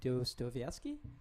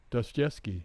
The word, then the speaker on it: Dostoevsky: That one is actually based on a book I was reading by Fyodor, I may be pronouncing his last name incorrectly, but Dostoevsky? Dostoevsky.